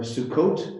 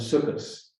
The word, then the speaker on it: Sukkot: for it um the the pronunciation is slightly different in yiddish you often emphasize a different syllable and a t at the end often becomes an s so shabbat in hebrew becomes shabbos or sukkot becomes sukas or torah becomes synchro so